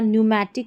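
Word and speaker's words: pneumatic: हो गया, ठीक है, यहाँ पर पी एन से शुरू है। कुछ ही स्पेलिंग्स है जो हमारी पी एस वाली है जो यहाँ पर दे रखी है, और पी एन वाली है, और यहाँ पर इन सभी में पी साइलेंट है।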